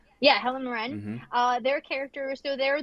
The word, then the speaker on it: Helen Mirren: Yeah, Helen Mirren.